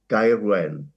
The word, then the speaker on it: Gaerwen: As a South Walian, I would call it Gaerwen.